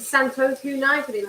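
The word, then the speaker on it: Santoku: is a very cool knife um it's a Santos that's how you say it um it looks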